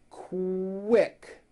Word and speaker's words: quick: So, for example, the word quick is pronounced with a K and a strong W sound.